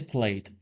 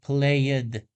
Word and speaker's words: plate: The pronunciation is plate, one syllable, but many candidates say played, adding an extra syllable at the end.